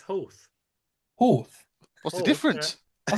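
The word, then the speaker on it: Howth: Well, how did you pronounce that, Liam? Health. Health? No. It's I'd say health. It's Hoth.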